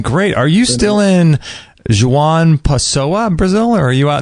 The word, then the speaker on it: João Pessoa: So how far away from, how do you say that name, João Pessoa? Is that how you say it? João Pessoa it's a 3-hour car ride and another 2.5 hours by plane.